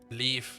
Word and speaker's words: Leif: and that's also wildlife or leaf i actually always say life which is the the german pronunciation belief has to be